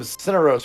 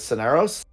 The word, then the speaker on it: Ceros: for like two years we called uh ceros uh we called him sinos for a long time and his actual pronunciation is ceros um so he pronounced